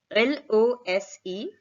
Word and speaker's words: lose: slight difference in pronunciation l-o-s-e has a z-sound pronunciation zed that kind of noise z is what is created when we pronounce this word it would be lose the meaning of course